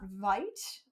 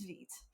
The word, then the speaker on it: Vite: pronounces something wrong so I do believe it's Veet thank you for the